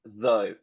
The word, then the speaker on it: though: okay I'm going to tell you the prononciation some of you were right is though though though very good but I've